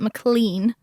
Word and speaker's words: McLean: And I always get that wrong because it's spelled McLean, but it's McLean.